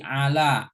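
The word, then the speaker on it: على: Kemudian yang tiga huruf lagi ala, ainnya fathah, lamnya fathah, kemudian iya-nya tidak bertitik, jadi seperti ila ya, itu alif.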